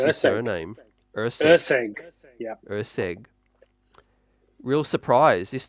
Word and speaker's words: Erceg: Uh, how do you pronounce his Erceg. surname? Erceg. Erceg.